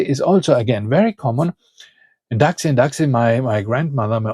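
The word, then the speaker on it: εντάξει: Uh she didn't speak any Greek and she was wondering why the people always talk about taxis. So, they weren't talking about taxis, they were saying endaxi.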